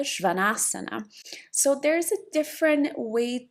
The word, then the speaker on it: Śvānāsana: The downward facing dog in Sanskrit, it sounds like Adho Mukha Śvānāsana. So there's a different way to pronounce.